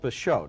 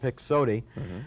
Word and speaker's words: Pixote: his best foreign picture the movie is called pashot now that's spelled p-i-x-o-t-e and down state illinois where i come from we probably would have pronounced it pixoty that's also the name